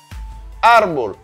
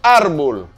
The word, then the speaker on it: árbol: mots qui portent un accent écrit sur avant-dernière syllabe. Par exemple, nous avons lapis. Lapis qui signifie crayon. On dit lapis. Arbol.